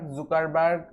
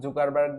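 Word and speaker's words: Zuckerberg: So Facebook তৈরি করেছে mark জুকারবার্গ, যাই বলেন, স্থান কাল ভেদে এর উচ্চারণটা বিভিন্ন সময় বিভিন্ন রকম করা হয়ে থাকে। বিভিন্ন জায়গায় কেউ জুকারবার্গ বলে, কেউ জাকারবার্গ, বাট আপনাদের যেটা ইচ্ছা সেটাই বলতে পারেন।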